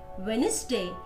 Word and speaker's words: Wednesday: D is not pronounced in these words. Badge, age, handsome, sandwich, wage, Wednesday, and hedge.